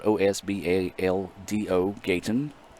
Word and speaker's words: Gaytan: spelled OSB al do Gaytan said as it sounds is the pronunciation guy provided by Steve Diffie so they had to